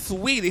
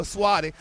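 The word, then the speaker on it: Saweetie: And here it is Juneteenth month, and he gonna offer Swati a niece $100,000 for a date. You talking about Sweetie? Yes, her name is Sweetie.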